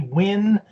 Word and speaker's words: Wynn: story a boring company gets a win and win in this case is spelled w-y-n-n and the reason for this of